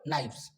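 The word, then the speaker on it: knives: काम कर रहा है, यहाँ पर के साइलेंट हो जाता है, सो एन आई नाई हो जाएगा और वी एस क्या हो जाएगा वस, सो the sound will be what नाइव्स, okay.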